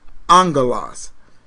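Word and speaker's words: ἄγγελος: look up angel the word Angel is actually pronounced Angelas amen so you can look that up once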